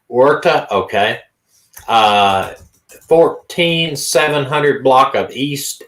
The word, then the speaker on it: Huerta: Her name is it's pronounced Huerta. Huerta, okay.